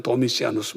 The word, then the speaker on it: 도미시안: 그 다음에 주님의 계시를 받는 사람들을 위해서 네로 황제, 트라이안 황제, 도미시안 황제, 또는 뭐 유식한 사람들은 도미시아누스 이렇게 발음할 수 있는데, 이런 프라비우스 황제 3대에